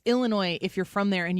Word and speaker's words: Illinois: It's Illinois if you're from there and you know what you're saying. It's Illinois if you're like, I don't care.